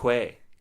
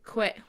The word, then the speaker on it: Kwai: Quay. Quay. It is pronounced Quay.